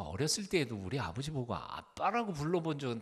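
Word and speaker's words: אבא: ABBA, 아바. 아바라는 말은 아람어로 어린 꼬마가 아빠에게 부르는 어린이 용어, 즉 그걸 직역하면 아빠입니다. 아빠. ABBA 뭐라고 읽어요? 아바라고 읽으면 안 되고 아빠.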